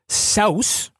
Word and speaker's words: Seuss: So his middle name is Seuss, but it's actually pronounced Saus.